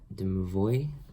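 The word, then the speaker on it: Domovoi: So like the house spirits, like the brownies, or the, I believe it's pronounced Demovoy.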